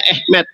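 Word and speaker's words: אמת: Ini bahasa Ibraninya alef mem tab, dibacanya tulisannya emet, dibacanya Ehmet.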